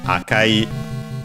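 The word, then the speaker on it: 赤い: We have Akai, the adjective red, unaccented, unlike Aoi, and as we'll see also some other colors with that are E adjectives.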